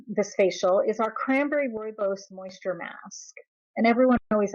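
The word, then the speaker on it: rooibos: Uh the mask for this step, I mean our this facial is our cranberry royos moisture mask. And everyone always asks me how do you pronounce that? It's Royos.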